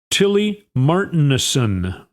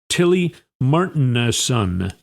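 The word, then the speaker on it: Tilly Martinussen: A lifelong Greenlander, Tilly Martin, I think is how you say her name. M A R T I N U S S E N. Tilly Martin.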